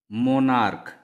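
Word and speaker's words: monarch: इसके अनुसार यदि किसी सिंगुलर कॉमन नाउन के अंत में सी एच जिसका उच्चारण क हो आए तो इसके अंत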